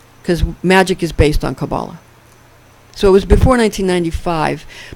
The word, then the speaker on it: Kabbalah: studying magic and studying Kabbalah or Kabbalah. I used to call it Kabbalah till I heard it pronounced properly as Kabbalah.